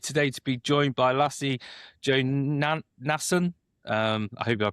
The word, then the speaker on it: Lasse Jonasson: I'm I'm used to people not being very crisp on this Danish pronunciation. Lasse Jönsson is the way I